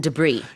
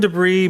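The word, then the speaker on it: debris: that by just ravage Los Angeles about and debr m and debr mud of course isort mud 음 mud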